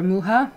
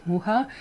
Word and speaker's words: Mucha: a check out er Muja or Mucha I will be pronounced in English in in check whoo-hah which means fly it's